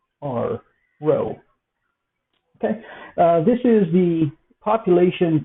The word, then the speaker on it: rho: that the Greek symbol Rho so that is pronounced looks like P hood sounds like our row okay this is the population correlation coefficient and